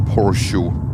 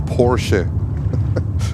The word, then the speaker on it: Porsche: No, it's not Porsche. It's Porsche. It's Porsche. No one No one calls a Porsche a Porsche. It's Porsche. Porsche. Take it. Porsche, not Porsche.